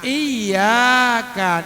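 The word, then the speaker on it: إِيَّاكَ: Nah, iyyaka na'budu wa iyyaka nasta'in. Iyyaka itu ada tasdid tuh. Maka dibacanya ada penekanan.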